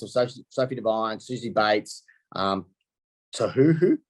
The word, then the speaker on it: Tahuhu: Sophie Devine, Susie Bates, Tahuhu, is that how you pronounce it? Yep.